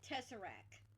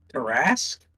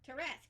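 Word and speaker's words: Tarrasque: I'm done with your Tessarak or is that how you say it? Terrasque. Terrasque. Yes.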